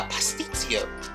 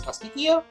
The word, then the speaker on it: pastitsio: I know you guys might think this is a little daunting, but this is something called a pastitsio. I think the correct pronunciation is pasticcio.